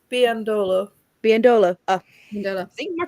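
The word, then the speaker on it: Biyendolo: So I was watching the game and I was like, "Who is Lynn Bevandelow?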